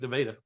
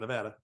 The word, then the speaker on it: Nevada: Milan, much like Nevada, not Nevada. Versailles, yes.